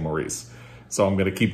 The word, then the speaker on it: Maurice: I have been wanting to reread Maurice They pronounce it Morris in the UK and I can't stop saying Maurice, so I'm going to keep doing it.